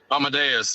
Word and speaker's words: Amadeus: Amadeus. Kind of like the song. Yeah. I'm sure Tony, he knows the song. Yeah, I know Amadeus. the song. Well, Amadeus. Well, you go into all Amadeus.